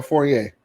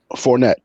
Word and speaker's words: Fournette: Is Fournette or Fournier? Fournette.